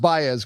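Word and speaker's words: Báez: Um the young defender, it's pronounced Bayz, correct? Yes. Alas Bayz.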